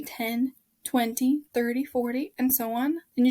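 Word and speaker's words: veinte: It's pronounced 20, like a vein in your hand, in your arm, in your body.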